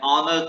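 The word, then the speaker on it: honour: ही इज वह क्या है, एन ऑनर टू his profession, तो ऑनर का प्रोनाउंसिएशन वाउल साउंड से हो रहा है, इसलिए ही इज एन ऑनर टू his profession.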